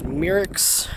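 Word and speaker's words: Myricks: down there all right this location is mirix i think that's how it's pronounced m-y-r-i-c-k-s station used to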